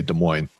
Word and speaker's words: Des Moines: next time you say Des Moines, Pete. It's It's given the French pronunciation. Des Moines? Um Uh I'm going to hope that Des Moines has somewhat of a